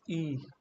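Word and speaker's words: え: It's E. Eel. E. e, E. e, E. Okay, it's sharp sound E. Not the elongated sound, but sharp sound E.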